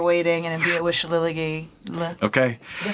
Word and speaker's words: Shillelagh: and imbue it with Shillelagh. Okay. Did I say it right? Almost. Nobody says it right. Shillelagh. Think Shakira, Shillelagh.